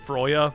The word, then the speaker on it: Freya: I'm gonna spell it like this, and I think technically it's pronounced Froya, but I'm just gonna say Freya.